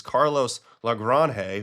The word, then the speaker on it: Carlos Lagrange: This is Carlos Lagrange, who I found out that's how you say his name, striking out Judge today with a 102.6 mile an hour fastball here.